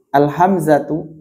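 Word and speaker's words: الهمزة: Jangan cuma dibaca hamzah, ba, jim, bukan, tapi al-hamzatu, al-ba'u, al-jimu, gitu bacanya nanti ya.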